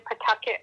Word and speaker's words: Pawtucket: I was born in Pawtucket, Rhode Island. Pawtucket. That is such an American name. It's a bit like Nantucket, I suppose, isn't it?